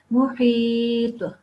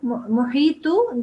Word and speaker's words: محيط: Okay, محيط. محيط. Yeah, try and not say tu, muhitu, then that would mean that there is this dhamma sound. There is no dhamma, but it has to be a jumping, jerking, shaking sound.